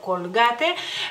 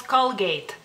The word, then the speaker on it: Colgate: pasta Y ustedes dicen Colgate de nuevo tal y como está escrito Letra por letra Por así decirlo Colgate mientras que en lituania decimos call Gate call Gate Creo que